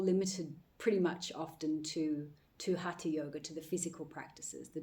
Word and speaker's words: hatha: But actually hatha yoga, which is how it's pronounced, is made up of ha, which is the sun, and ta, which is the moon.